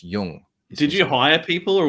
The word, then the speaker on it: Jung: It's pronounced Jung.